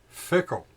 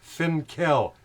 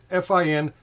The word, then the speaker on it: Finkel: Fickle. Some guy named Fickle. Get your studio together. It's Finkel. Finkel. It's not Fickle.